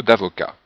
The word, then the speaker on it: avocat: Alors Michel vient de trouver un boulot d'avocat. Donc le T n'est pas prononcé.